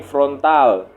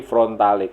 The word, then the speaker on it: Frontale: Di Kawasaki Frontale, kalau bacanya frontal, front dan ale, jadi Frontale, Kawasaki Front.